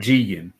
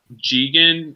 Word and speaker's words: Jigen: Jigen. Jigen with the G. It's with a J, but they pronounce it as G with a G.